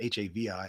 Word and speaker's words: Hawi: It is so Jake and Hannah live in, it's Hawi, Hawaii, which they taught me is pronounced Javi, like Havi, Javi.